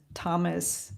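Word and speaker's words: Θωμάς: I want to say Thoma because in Greek, Thomas is pronounced Thoma.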